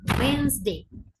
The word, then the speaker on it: Wednesday: முதலாவது வந்து மிஸ்டேக் வந்து, முதலாவது வேர்ட் வந்து நார்மலா வெனிஸ்டேன்னு சொல்லுவாங்க. ஸ்ரீலங்கால வந்து நிறைய பேர் வெனிஸ்டேன்னு சொல்றது. So this is நாட் வெனிஸ்டே, இட்ஸ் வென்ஸ்டே. இட்ஸ் வென்ஸ்டே. ஸோ வென்ஸ்டே இஸ் the correct pronunciation. Wednesday.